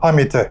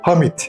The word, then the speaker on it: Hamit: Dolayısıyla A sesi kısa okunur. Nasıl? Hamit. Eğer A sesini Hamit olarak okursak bu sefer anlam değişir. Hamdeden, şükreden anlamına gelir.